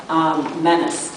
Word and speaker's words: Moniz: When she's thinking of her former husband, she actually calls herself Menace. That's her last name, but it's correctly pronounced Moniz, actually.